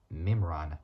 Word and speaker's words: Mimran: no it's not that so Johan Claude uh mimran so mimran is spelled m i m r a so m